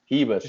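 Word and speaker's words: Ribas: Hebas, that's how you say it, right? Did you see her? Yeah, it's like Royce Gracie. You know what I mean? Yeah. Okay. You don't say your R.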